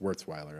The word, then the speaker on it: Wurzweiler: I think it's pronounced Wurzweiler, actually.